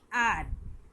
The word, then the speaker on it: hour: तो जैसे कि सबसे पहले आते हैं आर, HOUR। तो यहाँ पे एच साइलेंट होता है और हम लोग इसे बोलते हैं आर।